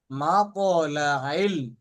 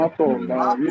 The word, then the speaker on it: مطلع: আমি ভেঙে ভেঙে ভেঙে বলছি যার আপনাদের যারা বুঝতে সুবিধা হয় সালামুন হিয়া হাত্তা মাতলাইল এখানে আইন উচ্চারণ করতে হবে এবং কলকলা করতে হবে মাতলাইল মাতলাইল ফাজর মাতলাইল জি ফজর ওস্তাদ জি বলছেন।